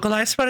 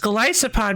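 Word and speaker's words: Golisopod: might want to Oh, Golopod is the coolest. Typing too bad. It ability is Oh, really? Yeah. I realize it's probably pronounced Glyopod because it's like Goliath isopod.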